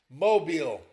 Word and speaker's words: Mobile: Also tonight, 8:30 Eastern on ESPN at Hancock Whitney Stadium in Mobile Mobile. 6 mobile, however you want to pronounce it. It's Mobile.